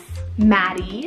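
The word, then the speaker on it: Mattie: list and this one means true or gracious Maddie spell m a t TI i e Maddie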